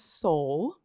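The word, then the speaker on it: Seoul: have one right now his name is soul and you spell it s o l actually s e o u l like the city because all of our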